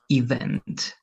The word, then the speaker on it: event: The stress is in the second part, event. Be careful because in the first part you pronounce the stress over here like event, but no, it's not going to be event, it's going to be event.